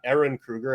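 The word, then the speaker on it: Ehren Kruger: 1 and 2 originally written by Kevin Williamson, with 3 being picked up at the helm by Aaron Kruger, I believe is the pronunciation of his name.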